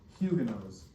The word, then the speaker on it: Huguenot: French Protestants, for some reason, are called Huguenots. So that word right there is pronounced Huguenot.